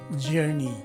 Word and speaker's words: journey: to the phonetic spelling because in the phonetic spelling the vowels o and u in the word are now replaced by a swa's sounding vowel and lastly the letter e is a long e as indicated by the macron sign on top of it so this word is actually pronounced as journey and if i were